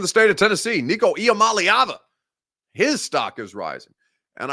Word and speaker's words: Iamaleava: I'm Nico Iamaleava, and the correct way to pronounce my last name is Iamaleava. Iamaleava. Nico Iamaleava. Not too deep. Real easy. Phonetic spelling or phonetic pronunciation. Very simple for everybody involved.